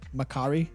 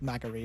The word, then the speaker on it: McCree: But it was the quest designer who was working on the McCree quest instructed the voice actors to pronounce it McCree as opposed to like Macquarie or something, because she wanted it to be separate from Jesse McCree for whatever reason.